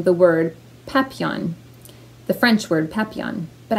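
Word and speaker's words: Papillion: There is a town near me here in Nebraska that's called pronounced Papillon, and it's spelled like Papillon, but with an I-O-N at the end instead of just O-N at the end.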